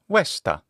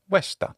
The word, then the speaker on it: Vesta: let's start with Vesta so Vesta in Latin westa that's easy to pronounce westa which has the same momology as its Greek equivalent which is hesa in classical adct pronunciation that's hisa that name westa has